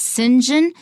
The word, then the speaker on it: St. John: John here pronounced Sinjin sometimes that happens in English especially British English I come from a city called st.